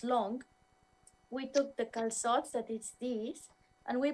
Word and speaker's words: calçots: How do you pronounce it? Calçots? Calzots.